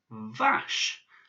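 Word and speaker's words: ваш: So this word is vache, which my son finds very amusing because it's the same as the French word for cow, but vache.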